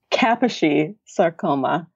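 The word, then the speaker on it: Kaposi sarcoma: herpes virus 8 hhv8 because this patient has Kashi saroma is that how you pronounce it yes this is a is that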